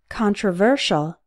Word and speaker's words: controversial: Controversial. Notice that the stress changes. In controversy, the stressed syllable is con, but in controversial, the stressed syllable is ver, yet the con is still pronounced like on.